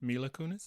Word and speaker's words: Mila Kunis: Mila Kunis.